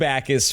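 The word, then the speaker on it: Jacas: That's how you pronounce it. It's yeah, Akis. No J.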